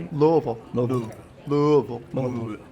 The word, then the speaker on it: Louisville: Louisville. Louisville. Louisville. It's spelled like Louisville, but it's Louisville.